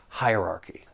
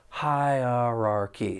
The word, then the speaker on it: hierarchy: it's another long word hierarchy there are four syllables the stress is on that first syllable and the second syllable you do hear that schah sound hierarchy it's a little easier when we slow it down hierarchy and then we